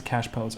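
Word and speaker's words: cachepot: around Jana Cash pose why do you pronounce a cash pose because that's how you're supposed to pronounce it even though it's spelled cash pots because we fancy Pam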